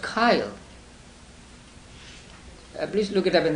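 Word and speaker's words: chyle: SI h yl e how do it is pronounced Kyle please look it up in the dictionary so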